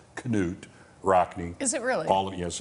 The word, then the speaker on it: Knute Rockne: him in the movie Knute Rockne and actually the names pronounced Knut Rockne is it really all yes it is all-american February 19 1972 Sammy Davis jr.